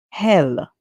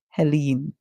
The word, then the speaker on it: Helene: However, it can also be pronounced as hell. So we can hear the E and the L going together. So we can hear and e, l, hell, and we can hear in, Helene.